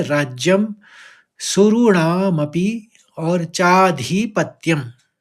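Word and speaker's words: सुराणामपि: अवाप्य भूमा वसपत मृद्धम और आखरी पंक्ति यानी चौथी पंक्ति तीन शब्द यहां भी है राज्यम सुरणामपि और चाधिपत्यम तो इस तरह से उच्चारण करेंगे राज्यम सुरणा मपी चाधिपत्यम एक बार पूरा श्लोक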